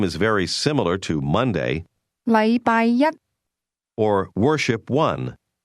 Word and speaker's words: 禮拜一: The difference is that the word one used with Monday is pronounced with a high level tone, while the word day is pronounced with a low level tone.